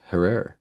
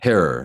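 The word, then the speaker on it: Herer: This is Herrer. yeah. I love me some Herror. Like terror. It rhymes with terror, folks.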